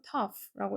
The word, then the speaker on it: tough: 여기 GH는 F 발음이 된다. 그래서 tough라고 읽어주는 거고 다음 내가 씹기에는 이라는 말을 쓸 건데 자 여기서 우리가 이제 의미상의 주어를 앞에서 배웠잖아요.